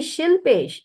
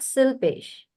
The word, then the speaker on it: Shilpesh: So then it is actually Shilpesh, not Silpesh.